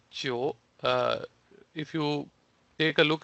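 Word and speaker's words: 九: it looks like the shape of number 9 Chio. If you take a look at their character, the Chinese character for number 9, which is pronounced as Chio, it is like shaped in a similar way.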